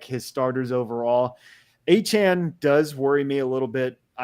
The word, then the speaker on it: Achane: So I think it's Achane. I mean, it's better than what Quaz says, Achine.